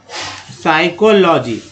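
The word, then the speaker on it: psychology: साइकोलॉजी, या तो खैर ये पी यहाँ से जो है पी साइलेंट हो जाता है इसलिए।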